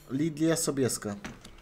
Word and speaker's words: Lydia Sobieska: Your S is a bit more, I don't know, soundy pronounced, whereas in Polish it's more of a Slavic sound. But yeah, close. Lydia Sobieska? Yeah. Okay, there we go. That's what I was doing wrong. I was putting too much emphasis on the first S.